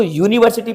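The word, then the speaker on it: university: इसको यूनिवर्सिटी पढ़ा जाएगा, तो इसके पहले ए लगाएंगे, आ यूनिवर्सिटी।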